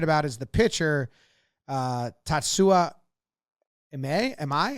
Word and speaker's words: Imai: is the pitcher, Tatsuya Imai. How do you say his last name? Imai, I believe, is how I've heard the last name pronounced most often.